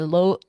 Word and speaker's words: Louisville: there in Louisville and I know I'm not saying it right it's supposed to be Lille we we'll get you there